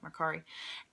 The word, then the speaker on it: Mercari: That's how you say it, Mercari.